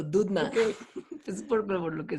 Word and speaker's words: Doudna: de apodo The Dude, porque así se por pronuncia el Doudna. apellido, Dudna.